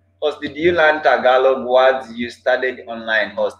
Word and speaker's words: Tagalog: Before pronouncing the word Tagalog, I was saying Talog.